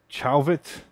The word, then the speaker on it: Chauvet: four of these chauvette chauvet chalvet okay if you're american it's probably like chalvet if you're french it's chauvet i'm gonna go with chauvet i don't know how